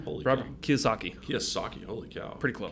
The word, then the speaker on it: Kiyosaki: Kiyosaki. Kiyosaki, holy cow. Pretty close. Can you spell it?